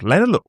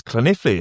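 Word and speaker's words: Llanelli: I went, "I'm talking to this team in West Wales called Lannor." He goes, "You mean Clint?" I went, "No, Lal is spelled L." You know, like like that. He goes, "No, it's Clene.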